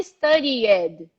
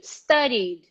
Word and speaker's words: studied: study you don't say study it you don't say try it you go from the vibration to the d the rule does not change so we're gonna go